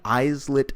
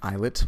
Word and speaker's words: islet: And the way the endocrine pancreas is organized is that there are many islet cells. It's actually pronounced islet, but I'm mispronouncing it just to let you know how it's spelled.